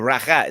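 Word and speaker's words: rakı: they have a thing called rocky or Raqqa is how they say it and it's a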